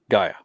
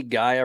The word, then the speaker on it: Gaia: Gaia. Yeah. Okay. So the AI makes the I sound normally. So we'll call it Gaia.